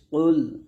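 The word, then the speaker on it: قُلْ: কফ লাম পেশ কুল। কফ এখানে মোটা উচ্চারণ করতে হবে যেন কাফের মতো না হয়।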